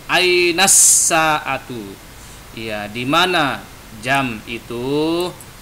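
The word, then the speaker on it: الساعة: Jadi tidak ainal sa'atu tapi ainas sa'atu.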